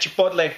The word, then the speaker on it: chipotle: And that's right, I am saying chipotle. If you think I'm saying it weird, learn some Spanish, guys, because that's how you pronounce chipotle, not chipotle or anything like that. It's chipotle.